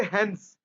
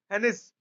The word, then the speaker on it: Heinz: देखो आई साइलेंट है, आई इसमें साइलेंट है, सबको पता है बात, हेंस होगा ये।